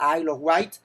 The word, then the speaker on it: Isle of Wight: Me ha tocado estar en festivales, un festival en Inglaterra, un lugar que se llama la Isla de Wight, se pronuncia Isle of Wight, y es un festival